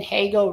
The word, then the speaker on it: Hagel: Brandon Hagel rhymes with bagel.